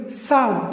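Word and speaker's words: psalm: और साम पी एस ए एल ए एम, साम, इसमें भी ये पी साइलेंट है.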